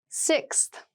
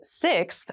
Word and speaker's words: sixth: don't you you sixth sixth sixth so sixth refers to the number six of something this is a really good word to practice some pronunciation slow down that six that middle part there the sixth book from